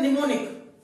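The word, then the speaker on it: mnemonic: शुरू एन से होता है, लेकिन उसका जो उच्चारण होता है वो एन होता है, होता है निमोनिक।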